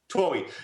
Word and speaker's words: Twohy: How do you pronounce his name? Twohy.